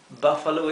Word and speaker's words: buffalo: Y tenemos buffalo. Buffalo. Buffalo es búfalo, ¿verdad? Fíjense que la U se pronuncia bien cortita porque está seguida por una consonante doble.